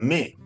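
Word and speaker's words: mais: En francés decís, no sé, me que es, pero se escribe m a i s y se pronuncia me, o sea, se pronuncia una vocal que no está en la palabra, ¿no?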